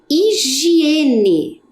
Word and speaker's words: higiene: seguida temos a palavra higiene Olha o h no início da palavra lembram que ele não tem som então aonde que ele